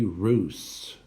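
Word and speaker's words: Russes: I'm making it bigger for you, for the Ballet Russe. R-U-S-S-E-S, pronounced Russe, the Ballet Russe.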